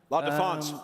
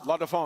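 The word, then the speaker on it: La Défense: La Defense. La Defense.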